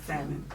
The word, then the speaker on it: salmon: The L in salmon is silent and salmon.